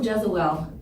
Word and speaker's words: Jesuele: also known as the, and today we have Joe Jesuele.